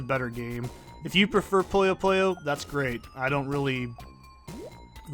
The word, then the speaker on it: Puyo Puyo: because if I'm real, the only reason I call it Puyo Puyo is because I know that's how the game is pronounced in, like, Japanese.